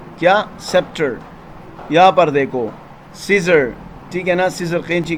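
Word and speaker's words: Caesar: ہے یہ ساری چیزیں۔ اے جب سائلنٹ ہوتا ہے، جیسے کہ سیزر، اب یہاں پر اے کا کوئی اپنا آواز نہیں بن رہا اور ڈائریکٹلی ای سے آواز تلفظ ہو رہا ہے، سیزر، ٹھیک ہے نا۔ اور یہ دیکھو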